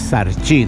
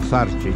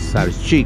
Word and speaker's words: Sarchí: La catedral de Sarchi, porque es Sarchi, no Sarchi, como digo yo, es Sarchi con acento en la I.